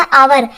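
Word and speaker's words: hour: से शुरू हुई है लेकिन यहाँ एच साइलेंट है। तो जिन वाक्यों में एच साइलेंट होता है ना, वहाँ आर्टिकल एन यूज होता है। जैसे यहाँ पर इसे हम हावर नहीं बोलते, इसे हम आवर बोलते हैं, तो यहाँ एच साइलेंट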